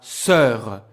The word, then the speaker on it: sœur: And exactly like I was telling you earlier, ici on a le son because the sound of the vowel is closed by the consonant r. Ma sœur. The vowel is sœur. It's closed.